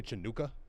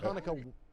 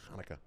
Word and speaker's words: Hanukkah: Did you hear Smokey Robinson say Chinooka? That's not how you pronounce it? I thought Hanukkah was spelled with just an H.